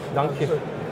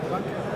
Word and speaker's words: Dank je: Dank je. Dank je.